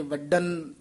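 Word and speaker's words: ਵਡਨ: तू हर सुख दाता वडन वडन ये वडन थोड़ा जा कस के उच्चारण करना है। वड्डा वडन नहीं कह देना आम कई वडन ही ढड्डा ला जाते।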